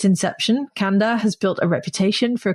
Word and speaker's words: Kanda: The brand is called Kanda. Kanda, it's actually pronounced, it's Kanda.